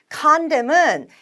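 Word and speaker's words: condemn: 선뎀은 N발음은 나지 않습니다.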